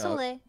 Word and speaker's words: Soleil: How do you pronounce it, guys? Yeah, yeah. Soleil. Soleil? Okay, Soleil? Thank you. All right. It's Soleil.